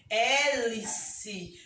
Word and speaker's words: hélice: Hélice. Você não pronuncia o H, você pronuncia a vogal.